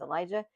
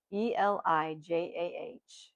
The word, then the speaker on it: Elijah: There's Elijah, Elijah, and Elisha, Elisha.